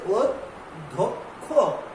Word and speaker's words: অধ্যক্ষ: এটা কি অধ্যক্ষ নয়, এটি অধ্যক্ষ না, এটি হচ্ছে অধ্যক্ষ। এখানে ক এবং খ হবে, ক এবং খ হচ্ছে উচ্চারণে জিহ্বা, তাই বলছে।